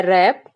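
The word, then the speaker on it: wrap: भी मतलब होता है रैप यहां पर डब्लू बर्ड जो होता है साइलेंट हो जाता है तो इसे हम पढ़ेंगे रैप यर आई जीी एस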